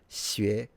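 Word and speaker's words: xué: Wo shi xue sheng. I'm a student. But he pronounces the sh and the x in the same way. They're related, but they're different. The x is a retracted s.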